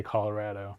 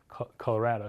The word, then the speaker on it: Colorado: Colorado, you don't say avocado, right? So it should be Colorado, like avocado, like tostado, right?